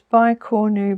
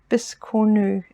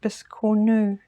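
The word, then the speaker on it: biscornu: tiny little bis cor I always thought that word was by coru but um um Katherine from k3n um she makes them and she she she pronounces it bisu and uh I think she would know because she uh lives in France so um from now on I'll call it bis new so that was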